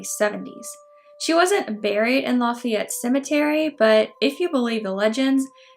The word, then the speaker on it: Lafayette: of, you guessed it, Lafayette. Or Lafayette, we pronounce it differently down here.